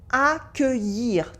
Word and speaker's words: accueillir: And the verb is accueillir, to welcome.